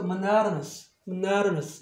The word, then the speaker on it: monotonous: monotonous 이렇게 발음이 바뀌어요.